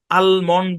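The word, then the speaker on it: almond: একটা interesting fact হচ্ছে এই শব্দটাকে অনেক নেটিভরা আলমন্ড পড়ে অর্থাৎ এল উচ্চারণ করেও পড়ে নেটিভ বলতে কাদেরকে বুঝাচ্ছি যাদের মাতৃভাষা ইংলিশ তাদের ভিতরে এটা দুই ভাবে উচ্চারণ করে তাহলে আমরা এই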